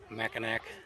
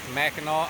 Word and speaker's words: Mackinac: All right, well, we survived Mackinac Island. I got clarification from the man on the ferry. It is Mackinac Island. It's spelled differently because the island is,